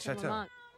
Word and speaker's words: Chateau Marmont: Chateau. Marmont.